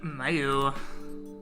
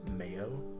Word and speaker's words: Mayu: Hey, Mayu. It's pronounced Mayo.